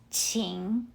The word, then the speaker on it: 请: For example, the word please, 请, Pinyin spells it as Qing. Now that's just for the fun purpose of it. Let's replace Q with CH. Then you will spell it as CHING, so you pronounce it as 请.